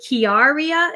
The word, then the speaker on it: Kiaria: And then to answer, was it Kiaria? Is that how you say her name? Yes.